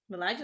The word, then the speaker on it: Bellagio: Bellagio, that's how you pronounce it.